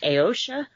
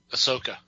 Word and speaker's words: Ahsoka: um who was a brandon always corrects me when i say her name is it ayosha ahsoka ahsoka there you go ahsoka which i thought